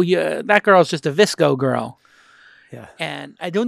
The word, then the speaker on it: VSCO: That app is called VSCO. And it's spelt like disco, but with a V and no I, VSCO.